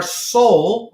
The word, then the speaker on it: sol: Now after that, we have our soul. Okay. S-O-L. The way you pronounce it is soul.